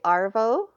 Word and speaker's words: Arvo: But they don't actually use the word, they don't pronounce R, so it ends up being Avo.